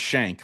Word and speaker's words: Schenck: It's pronounced Schenck, like a prison Yes. shank, but it's spelled with extra letters and an E in the middle.